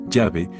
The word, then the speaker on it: Yahvé: Al insertar las vocales de Jahve en el texto consonántico hebreo original, obtenemos la forma Jahve, Yahvé, que ha sido generalmente aceptada por los eruditos modernos como la verdadera pronunciación del nombre divino.